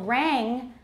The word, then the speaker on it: rang: For example, rang will often be pronounced ran.